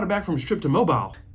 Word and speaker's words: Mobile: back from strip to mobile it's pronounced mobile oh yeah that's the